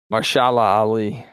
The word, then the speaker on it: Mahershala Ali: Well, man, how do you pronounce his name again? Ali, first name? Mahershala Ali.